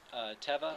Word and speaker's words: Teva: Then we found these Teva or Tiva, depending on where you are in the country and how you pronounce it, sandals, which they have that heel strap.